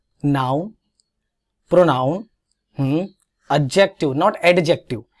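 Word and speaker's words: adjective: Noun, pronoun, एडजेक्टिव, नॉट एडजेक्टिव। याद रखिएगा ए और जी के बीच में डी जब भी आता है वो साइलेंट होता है, इसलिए एडजस्ट होता है, एडजस्ट नहीं होता है।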